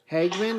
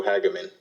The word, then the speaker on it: Hageman: And Antonio Hagman, is that you? Yes, sir, but you pronounced it wrong. It is pronounced Antonio Hageman.